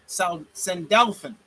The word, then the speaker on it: Sandalphon: Sandalphon.